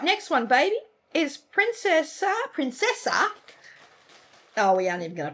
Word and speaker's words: Princessa: All right, next one, baby, is Princessa. Oh, we aren't even going to try to pronounce that one. Something longer by Nestle. Princess Orchikawa or something. No, it's Princessa.